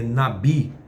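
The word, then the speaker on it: נביא: palavra profeta no hebraico é Nabi ou Navi se escreve Navi mas a pronúncia correta é Nabi que significa alguém que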